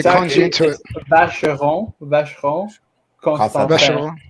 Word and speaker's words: Vacheron Constantin: Vacheron Constantin. You gotta say it fast. Just say it's a con. It's a con job. French people say it like that. Right. Vacheron Constantin.